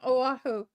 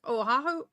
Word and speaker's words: Oahu: Oh no, Honey was born on Oahu. Oh, how do you say that? Oahu? Oahu? Oahu.